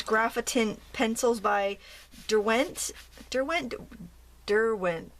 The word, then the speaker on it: Derwent: pencils by Dent Dent Derwent d i I know I say it wrong CU I'm an American I use the American pronunciation Derwent Derwent I don't know it sounds all the same to me either way